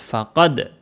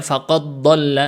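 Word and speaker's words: فقد: pertama kas jadi cara bacanya orang sebagian salah disangkanya ini idgham idgham mutajanisan atau mutamilan gak ya faqad Da faqad dibacanya jelas faqad jadi dia Qalqalah dulu gak dimasukkan ke huruf dad setelahnya ya faqad d bukan dibaca faqada gak faqad da silakan dicek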